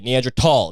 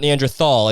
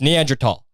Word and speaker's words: Neanderthal: And that's the way it's pronounced, by the way. Neanderthal. It's not Neanderthal. And if you say it that way, you're fucking one of them. It's Neanderthal.